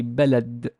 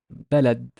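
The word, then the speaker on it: بلد: has a fatha, and the d has sukun, because as we said, it can be pronounced this way if it's word or speech final. We say balad, balad, balad.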